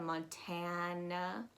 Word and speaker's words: Montana: episodes of accent academy but you're going to pronounce that first a as a as an a y hannah montana tan tan so it's a it's it's a very loaded sound going down we have